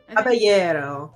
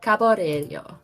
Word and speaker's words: Caballero: And tonight, I am playing your wonderful gentleman, El Caballero? Is that how you pronounce it? Caballero. Caballero. Okay. Yes. The two L's make a Y.